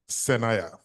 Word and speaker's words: Senaya: Please tell us once again how your father wished that name be pronounced. Senaya. Senaya. God gave this. It's a Volta region name, Volta region in Ghana. Senaya, is God. Naya God gave me this.